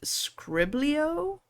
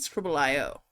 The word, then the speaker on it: Scribble.io: Also, I've heard people call it Scriblio, and I've heard people call it Scribble IO. I don't know. How do you guys pronounce it? I pronounce it Scribble IO.